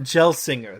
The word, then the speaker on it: Gelsinger: It's Pat Gelsinger. There we go. Gail singer. Gail singer singer. Gail singer. There we go. I was like, is this gel or gale?